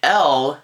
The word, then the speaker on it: Elle: wallace jr was doing e-l-l-e pronounced l is actually the french word for she so it's really just